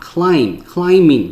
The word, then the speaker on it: climbing: crossing the pavement、crossing the street、crossing the road，这些都有可能。再来攀爬 climbing，记得这个 b 是不发音的哈，所以呢 climbing 其实 mb 在一起的时候呢，这个 b 都不发音，OK